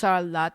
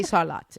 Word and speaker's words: Sarlat: No, it's salot. That's salot and some people say salah and so but it's we say salat and it's an exception to the rule about pronouncing things in French and it's one of